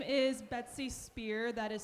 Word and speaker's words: Speer: my name is betsy spear that is spelled s-p-e-e-r i emphasize that because i realize i have the name that sounds like a certain pop star uh hashtag free britney